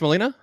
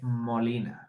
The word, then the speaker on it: Molina: So, guys, Molina, is it pronounced Molina? Molina? Yeah. Okay. You just, okay. And if you want to do it Spanish, it's like Molina.